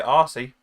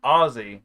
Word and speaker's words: Aussie: to say it and i don't say aussie it's ozzy not aussie i like it either